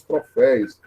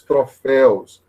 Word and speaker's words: troféus: muito comum também né ouvimos troféis dá uma dor no coração então são os troféus então quando esses encontros